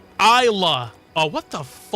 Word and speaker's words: Islay: Islay sounds like Isa.